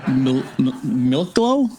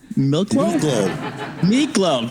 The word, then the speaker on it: Miklo: Was it Milklo? Miklo. God, I'm an idiot, dude. Miklo.